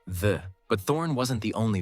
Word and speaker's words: ye: Despite what most people think, it was never pronounced ye. It was always supposed to be read as the.